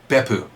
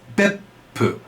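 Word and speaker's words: Beppu: in Japan called be it's not beu it's beu and the way this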